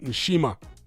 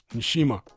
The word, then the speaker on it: Nshima: I say that because I don't know where you're from, but in Africa, you'll often find the letter N before D and stuff like that, or even the letter N before the letter S.